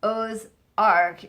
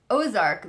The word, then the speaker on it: Aux Arcs: that I realized that the pronunciation of the French word O's Arc is the same as ozark the place so what